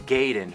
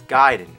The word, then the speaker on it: Gaiden: We're talking Ninja Gaiden. Everyone always said Ninja Gaiden, but I know for a fact it's Gaiden.